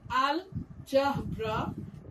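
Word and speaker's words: الجبر: Example, algebra, which is pronounced as al-jabra and means a branch of mathematics dealing with symbols and equations.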